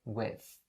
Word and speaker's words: with: one is with so with ends with the th sound and in this particular situation is the voiceless th sound and in order to pronounce it all you have to do is to stick your tongue out a little bit like this right and say with with so let me say